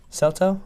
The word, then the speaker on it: Soto: of Harry and Alexis how do you say your last name is Soto Soto okay okay yeah Alexis uh